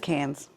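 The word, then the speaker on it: Cannes: It's Cans.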